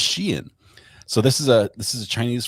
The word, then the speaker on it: Skien: Like it's pronounced Skien.